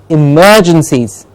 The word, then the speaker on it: emergencies: and CI es emergencies the merge gets a stress emerges the stress emergencies not it's not emergency its